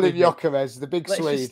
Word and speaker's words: Gyökeres: Oh yeah, so we call him Gyökeres. Okay, what did I say? Gyökeres. Yeah, but if you play FIFA, they say Gyökeres. Yeah. Just stick with Vic from now on, mate. We call him Gyökeres, the big Swede.